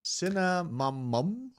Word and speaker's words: Cinnamomum: Cinnamomum?